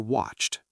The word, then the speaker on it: watched: Is it watch or watched? For the past, we say watched. Just add that t sound at the end.